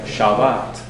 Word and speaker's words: Shabbat: So, you have words like Shabbat, Torah. That first syllable is shorter, the second syllable is longer.